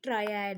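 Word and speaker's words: triad: Basically ट्रेड नहीं बल्कि ट्रायड है, इसका जो असली प्रोनाउंसिएशन है वो है ट्रायड।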